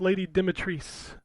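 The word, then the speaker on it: Lady Dimitrescu: ass yeah um her her name is pronounced lady demetris that's what the the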